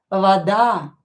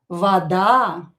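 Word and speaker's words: вода: A is stressed in this word, so this o you pronounce as a, but do not emphasize it. Do not stress it. Do not pronounce this a longer. Vada. Vada.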